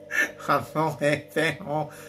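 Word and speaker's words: Añejo: Anejo.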